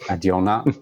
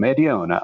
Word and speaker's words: Adiona: I also always recommend people to just pronounce it like they have a fake Italian accent. It usually gets people to uh to have some fun with the name Adiona.